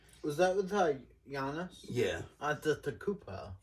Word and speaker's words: Antetokounmpo: Antetokounmpo. Yeah. Antetokounmpo. 5 syllables.